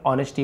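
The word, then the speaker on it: honesty: उसे हार्मनी कहते हैं ऑनेस्टी ए है केवल ऑनेस्टी पढ़ेंगे एज को नहीं पढ़ते हैं लिखते जरूर है नेस्टी ईमानदारी इमेजिनेशन कल्पना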